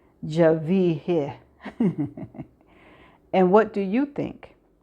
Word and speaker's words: Genevieve: First name is pronounced the French way, Javier."